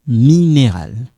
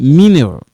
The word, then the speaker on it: minéral: So, in case you don't say, this one I'm not saying mineral. No. Minéral.